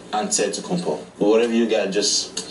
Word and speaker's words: Antetokounmpo: Way you gotta say with a D, so it's Antetokounmpo. But in the Greek way, you say with the NT, like Antetokounmpo.